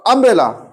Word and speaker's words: umbrella: দেখো তুমি যখন ইউনিভার্সিটি বলছো আর যখন আমব্রেলা বলছো, দেখো দুটোই তো ইউতে স্টার্ট, দেখো ইউনিভার্সিটি ইউতে স্টার্ট হচ্ছে, আমব্রেলা ইউতে স্টার্ট হচ্ছে, তাই তো? হ্যাঁ, কিন্তু উচ্চারণ কি আছে, ঠিক হচ্ছে? দেখো ইয়ের উচ্চারণ ইউর মধ্যে হচ্ছে, তাই তো?